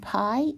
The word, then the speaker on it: pi: And pi is this symbol. You make a little swirly thing, and then the two lines at the bottom, and that is pronounced pi.